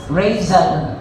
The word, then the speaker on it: Razel: If you pronounce the razor, Razel. Ayun po, may letter Z.